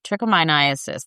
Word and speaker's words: trichomoniasis: All right, so it's called trichomoniasis. That's the way to pronounce it.